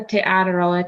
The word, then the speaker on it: Te Araroa: of the trail yeah so it's called the te araroa trail which means the long pathway in maori